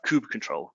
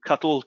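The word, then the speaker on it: kubectl: finally there we have coop control whoo cuddle cuddle coop CTL however you want to pronounce it this is the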